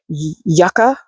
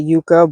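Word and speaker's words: yucca: ground yet this um yaka if I'm saying it because I usually say Yuka but that's not how you say it it's so pretty and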